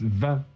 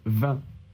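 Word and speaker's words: vin: wine like wine it's van like in French wine it's pronounced van ha the number the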